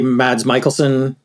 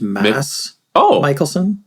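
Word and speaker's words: Mads Mikkelsen: but I always say mads Michaelson it's I found out recently it's actually pronounced Mass Michael like no d uh yeah you pronounce it without the D but I'll still call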